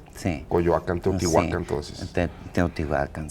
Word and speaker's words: Coyoacán: Nadie va a decir nunca Chapultepec, eso sí podemos tener la seguridad. Pero sí era así la pronunciación original. Eran palabras graves todas en el náhuatl, sí. Coyoacán, Teotihuacán, sí.